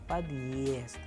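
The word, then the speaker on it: подъезд: It has no sound. It is only used to emphasize the sound of the preceding consonant and adds a small pause before the next syllable. For example, in the case we have used the word padyezd, padyezd. That is why after padyezd we have a smaller pause here.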